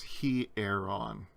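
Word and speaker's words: ἱερόν: on the first vowel it's a rough breathing and that's not a diphthong the iota and that epsilon are pronounced separately so it's he air on this is the word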